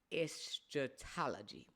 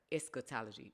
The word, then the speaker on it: eschatology: Solomon was not for eatology and so eatology if I'm saying it right eschatology no I said eatology it's ES kology so eschatology is the part